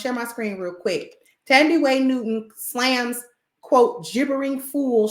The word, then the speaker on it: Thandie: People call her Tandy. It's pronounced Thandie.